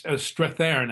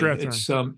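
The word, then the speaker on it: Strathairn: Yes, it's Strathern actually. Strathern. It's the most mispronounced name in My name on gets mispronounced all the time, and I IMDb.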